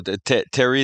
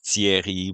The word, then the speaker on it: Thierry: So Terry is fine, and the actual in French it's Thierry, but Terry, like I everybody would calls have me Terry.